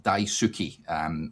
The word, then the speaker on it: Daisuke: He says it's Daisuke, Derek, not Daisuke. So Daisuke.